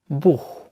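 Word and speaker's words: Buch: এর পরের উদাহরণটি হতে পারে স্কটিশ লহ এর মতো, লহ, লহ, যেমন বুহ, বুহ, যার অর্থ হচ্ছে বুক বা বই। এর পরের উচ্চারণটি হতে পারে কে এর মতোই, বা বাংলা ক, যার উদাহরণ হতে পারে কারাক্টার, কারাক্টার।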